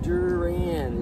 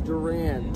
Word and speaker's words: Duran: you so much laughs my name durian it's Duran Duran Duran wait what is the